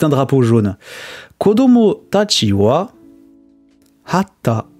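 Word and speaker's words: は: Quand on parle de la particule du thème, hein, on écrit ha, mais on prononce wa.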